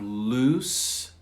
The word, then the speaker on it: loose: the noun advise advice number two we have loose and lose loose and lose so let's try